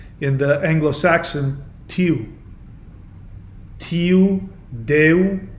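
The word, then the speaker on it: Tīw: father god of the Norse tradition, which is pronounced in the Norse, Tyr, in the Anglo-Saxon, Tiu.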